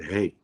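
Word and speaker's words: ה: the speech you know the fifth Hebrew letter is hey this is how we pronounce it hey and this is the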